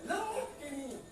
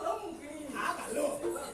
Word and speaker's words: ಲಂಕಿಣಿ: ಆಗ್ತದೆ ಲಂಕಿ ಈಗ ಗೊತ್ತಾಯ್ತು ಲಕಿನಿ ಅಲ್ಲ ಲಂಕಿಣಿ ಲಂಕಿನಿ ಅಲ್ಲ ನೀನು ಲಂಕಿಣಿ ಲಂಕಿ ಲಂಕಿ ಸರಿ ಲಂಕಿಣಿ